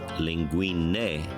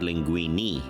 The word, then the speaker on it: linguine: Well, I learned that it's pronounced linguine, not linguini.